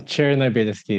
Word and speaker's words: Chernobelskiy: you don't say it um cherki is how you pronounce it all right all right